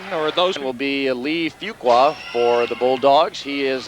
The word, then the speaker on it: Fuqua: those will be Lee Fuqua for the Bulldogs he is a 511 Junior would you believe it's pronounced Fuquay we were actually throwing off q-u-a well on the